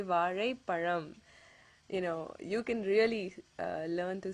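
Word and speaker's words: பழம்: It's actually pronounced as Tamil. Okay, it ends with that Ra sound. Another word is Param.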